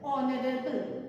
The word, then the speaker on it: honorable: Next, an honorable person. Again, same situation. H is silent. The sound is honorable.